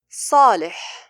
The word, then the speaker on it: صالح: صالح. The letter before the alif is صاد. It is a fattened letter, so the alif is fattened also.